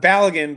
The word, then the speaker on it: Balogun: Balogun, by the way, is the way to pronounce it.